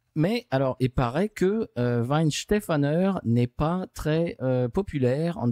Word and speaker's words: Weihenstephan: Alors, la Weihenstephan, prononcée à l'americano. Oui, c'est Weihenstephan.